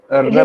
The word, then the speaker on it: Rabia: हमारी मेहमान हैं, पूरा नाम है, वो मुझे प्रोनाउंस करना मुश्किल हो रहा है, क्या रबिया है या रबिया है? रबिया।